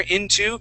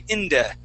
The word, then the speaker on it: into: Okay, this word right here, into, and how we, instead of saying into, we say inda.